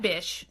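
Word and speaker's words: Bich: His last name is B-I-C-H, which I would have pronounced bitch. Like, that bitch bought our patent, right? I'm not saying B-I-T-C-H. I'm saying B-I-C-H. Like, bish, please.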